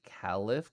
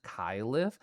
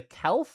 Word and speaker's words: Keli: It's like they can go Keiff, Califf, Kyiff. Like as long as it's two syllables and their accent/personality comes through, it's joy for me. Um, I don't like the single syllables, the kel.